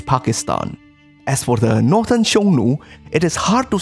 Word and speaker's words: Xiongnu: similarity of their names shonu pronounced in ancient chinese would probably sound something like hunu and there are various